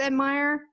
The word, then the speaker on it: Admire: would it be pronounced admire it's it's admired just like the word admirer just making sure okay then